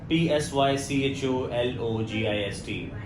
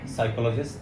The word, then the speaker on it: psychologist: other day too okay um how would you pronounce this word p-s-y-c-h-o-l-o-g-i-s-t psychologist yeah psychologist psychologist psychologist psychologist okay and I'm